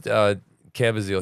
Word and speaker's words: Caviezel: Help me with his pronunciation. Caviezel. This is Caviezel.